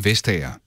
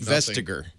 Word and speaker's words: Vestager: So here are two Danish people pronouncing her name. You ready? Yes. Margrethe Vestager.